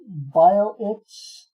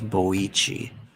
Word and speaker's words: Boichi: Albert says, I found out that BioItch, the artist, has Dr.